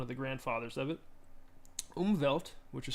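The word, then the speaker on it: Umwelt: may be rendered in the Canon as exclusive umelt of that specific character umelt is uh term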